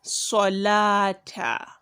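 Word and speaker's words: الصلاة: Then solata, solata, sodun and not salata. Solata, not shalata, not salata, but solata, sodun, solata.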